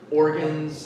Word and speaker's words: organs: Like uh this word swallowed and you got the word organs. I think you probably wanted to say organs, right? Organ organs the first syllable.